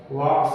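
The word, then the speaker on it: walks: इसको वाल्क मत पढ़ना, एल साइलेंट है। बहुत सारे बच्चे पढ़ते हैं ऑनेस्ट को हॉनेस्ट, नो को कनो, के नो डब्ल्यू वाला, और वॉक्स को जो है वॉल्क्स, ये वॉक्स है।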